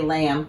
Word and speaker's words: lamb: did you know that lamb has a silent b at the end of it but you don't say the bee unless you have a stuffy nose um so you say lamb what's a lamb a